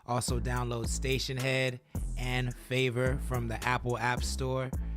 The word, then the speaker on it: Phaver: I also encourage you to download Favor. That's spelled with a P, Phaver. Download that from the Apple App Store and follow Connect the Coast. If you do, I can get you some Favor points, which will soon